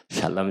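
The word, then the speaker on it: שלום: 그렇게 할 때는 궁둥이를 샬랑샬랑 흔들면서 샬롬 샬롬 샬롬 굉장히 좋아해요.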